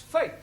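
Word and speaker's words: fete: For example, F-E-T-E is also pronounced fate.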